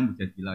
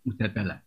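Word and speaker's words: المجادلة: Yang benar itu bacanya mujadilah yang level A. Tapi umumnya orang baca apa? Mujadalah.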